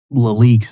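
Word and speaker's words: LELIQ: also was talking about leaks and things like that. So, I'll just spell out that. That's the last point I'll make here. Okay. So, leak which is spelled L E L IQ and then the plural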